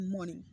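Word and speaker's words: morning: pronunciation होता है उसमें आर जो होता है ना silent are is silent in given word मॉर्निंग समझे ना मॉर्निंग में मॉर्निंग में आर साइलेंट होता है तो आर को नहीं बोलना है सिर्फ बोलना है मॉर्निंग जैसे कि सर है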